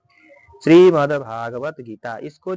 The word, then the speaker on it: श्रीमद्: ठीक है, यानी कि श्रीमद् भागवत गीता, द को जो है आधा पढ़ना है।